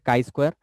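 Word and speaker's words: chi-square: এটা না, এটার উচ্চারণ হচ্ছে কাই স্কোয়ার।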